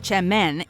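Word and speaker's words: çemen: Spelled with a C, semen, pronounced chemen, is in reality a popular type of dip or spread that hails from Turkey.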